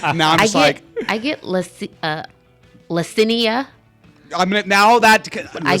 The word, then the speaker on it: Lessina: I get Yesinia. I don't know how we get a Y confused with an L, but I get Yesinia. Sometimes Y. That's what it's because. Lessinia. There we go. The Y is silent.